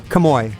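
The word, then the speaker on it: Kamo'i: latu how do you say his first name camoy camoy all righty camoy latu I didn't know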